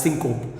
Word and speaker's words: syncope: one more important topic which is syncopy or in other words you can also pronounce it as synop synop or Syncopy that is the topic